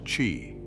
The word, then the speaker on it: qi: are governed by a life force known asqi pronounced Chi this Chi flows through us in channels known